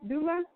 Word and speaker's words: doula: Doula.